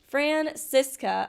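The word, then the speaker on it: Franziska: to decide Mr attorney oh it's pronounced francisa oh my God cuz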